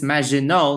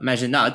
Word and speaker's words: Maginot: of this video is Maginot Line, which I pronounced wrongly in the previous video by the way. As it turns out it's Maginot Line, not Maginot.